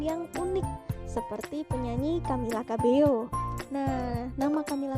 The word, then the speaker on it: Cabello: unik seperti penyanyi Camila cabeo nah Camila cabello ini sangat unik terutama di telinga orang Jawa karena Nama belakangnya berbunyi KB Iyo yang mirip dengan kata-kata kabeh yo sehingga mudah untuk diingat